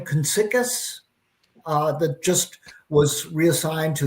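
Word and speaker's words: Kuniskis: The how do you pronounce the new guy's last name? Konsikis, that just was reassigned to the Ram. Oh, Kniskus.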